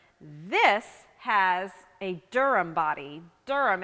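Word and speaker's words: Derham: has a Durham body durum it's spelled d-e-r-h-a-m and durhams were built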